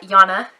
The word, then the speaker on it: Jana: a friend as well uh Jana pronounce Jana with a Y on over on Enchanted